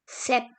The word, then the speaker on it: sept: Then we have 7, which is called as sept.